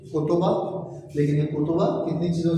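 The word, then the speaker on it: 言葉: क्या हो गया ये और ये लफ्ज जब मिलता है गैन और हा जब मिलता है तो को तोबा बन जाता है इसको को कहते है इसको हा कहते है और जब को और हा मिलता है तो क्या हो जाता है को तोबा कोबा मतलब अल्फाज तोय खाजी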